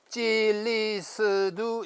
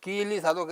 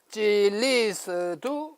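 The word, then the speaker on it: 基利斯督: 그리고 그리스도는 여기 있는 바와 같이 어떻게 했냐면 찔리스두 이렇게요. 찔리스두 중국 발음이 그렇다고 합니다. 여기 표기가 있어요. 찔리스두 이 시두가 아니고 스두라고 발음합니다.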